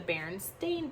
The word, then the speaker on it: Berenstain: asking that question if it was always stain because it had an a and not an e so you wouldn't need to question how to pronounce it if that made sense